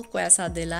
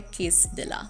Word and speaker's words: quesadilla: अब इसका प्रोनंसिएशन ना तो क्वैसा दिला है ना तो क्वैशा दिला है, बल्कि इसका प्रोनंसिएशन जो है वो है किस दिला।